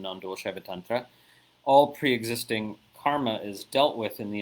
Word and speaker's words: karma: Bill Ezekiel asks a question about dealing with karma. Karma, right? But properly pronounced as karma.